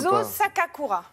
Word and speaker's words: Junzô Sakakura: Junzo Sakakura.